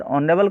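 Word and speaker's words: honourable: यहाँ पर ऑनरेबल का प्रयोग हुआ है और ऑनरेबल में एच साइलेंट है और वोवेल की ध्वनि आ रही है, और वो जब वोवेल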